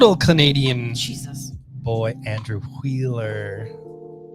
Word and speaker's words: Wheeler: boy Andrew Wheeler. He's got an H in his name, so it's pronounced Wheeler. With Travis Moore, who's done some phenomenal art on Wonder Woman lately, Tamara Bonvillain, and Aditya Bidikar.